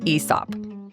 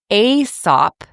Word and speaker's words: Aesop: Um, I'd always said Aesop. It's spelled A E S O P. But according to Cambridge and Merriam-Webster dictionaries, it's pronounced Aesop, so it rhymes with treetop.